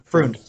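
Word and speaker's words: Freund: How do you pronounce his name? Froun.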